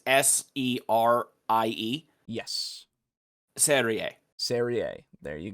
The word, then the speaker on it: Serie: Oh, Saria. Sorry. Saria. That's how you pronounce it, or something close. Okay. Until I hear it, I won't know. It's Serie.